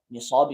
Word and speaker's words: Nisab: Nisab is a technical word which I will explain. Nisab with a sad. Yeah, if you want to spell it in English, Nisab.